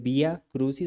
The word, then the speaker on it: Via Crucis: conoce como Via Crucis, que nosotros lo pronunciamos junto, pero que en realidad es Via Crucis, o sea, vía a la cruz.